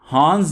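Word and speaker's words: horns: हॉर्न्स में आप आर को साइलेंट रखेंगे। हॉर्न्स कहते हैं सींग को।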